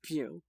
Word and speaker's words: Pugh: Okay, it is Pugh. I just looked it up. I'm real happy for you, and I'm gonna let you finish, but it is pronounced Pugh.